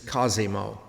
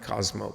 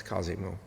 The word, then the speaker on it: Cosimo: who did it incidentally the correct pronunciation is Cosimo not Cosmo but it's Cosimo the fame of Florence